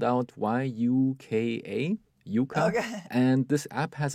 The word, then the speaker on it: Yuka: that my wife uses is called Yuka and it's spelled out y u Ka Yuka and this app has a symbol of